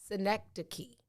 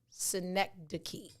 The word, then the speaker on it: synecdoche: today next the key phonetically it's written s-i-n-e-c-k-d-u-k-e-y synecdoche instead of saying i'm